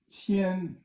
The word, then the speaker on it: 千: Now the next one is 千, which is first tone.